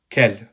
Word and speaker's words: quel: All 4 adjectives are pronounced identically, as you could hear from me, unless the following noun starts with a vowel, in which case the 2 are liaised, so you have this kind of liaison we already talked about.